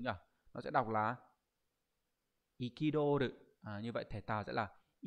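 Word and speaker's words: 憤る: Nó sẽ đọc là ikidoru.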